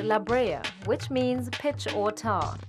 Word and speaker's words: La Brea: part of the island la bray's a spanish word pronounced la brea which means pitch or